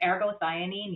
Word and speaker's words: ergothioneine: Um, it's like this missing puzzle piece in modern wellness and we need to teach people how to say it and it's arergoanine.